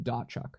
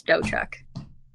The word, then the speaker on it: Dotchuk: right here dochu that is incorrect what yeah what is it so it's it's and the t is silent so it's dochuk it's not I hate